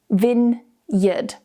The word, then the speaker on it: vineyard: So what many native speakers do is they just combine these 2 together and say vineyard or vineyard, I've even heard. But the correct pronunciation is vineyard.